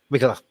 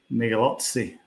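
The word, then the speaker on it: Migliozzi: My pronunciation of Guido Migalath. That's not his name, though. How do you pronounce it? Migalozzi.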